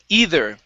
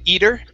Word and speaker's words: either: go to okay um either okay make sure to uh use your tongue to pronounce that th placing it between your teeth you had said eater okay this is on